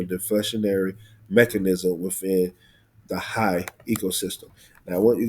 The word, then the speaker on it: HAI: So another essential high, that's what you call it, that's how you say it, high, is utility is ETB.